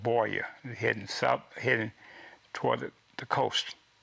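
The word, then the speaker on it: Buea: to a town called Boya, heading toward the coast, and Boya is spelled, by the way, B-U-E-A. Can you get Boya out of that? Not unless you told me.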